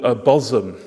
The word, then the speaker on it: Bosham: Because this site we're looked at for the first site of the project as a place called Bosham. It's pronounced Bosham, even though it's spelled Bosham.